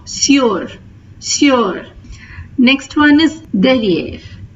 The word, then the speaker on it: sur: Please note the difference between these two. The pronunciation for is, it has the oo sound. Sous. Here it has the u sound. Sur.